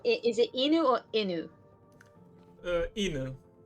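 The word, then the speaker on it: 犬: Inu. I believe the accent is on the I.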